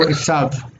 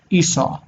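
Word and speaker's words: עשו: His name was also Esav. Esav, what you say in English, Esau. It's funny how you pronounce names in Hebrew names in English. I think it's cute. Like Esav, you pronounce Esau.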